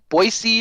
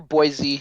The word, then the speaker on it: Boise: boyy boys bo boy most people don't know how to pronounce that unless they're from Idaho or Utah or Oregon Oregon because it's a weird name but yeah boyy or Boise either one Boise or boyy yeah but yeah no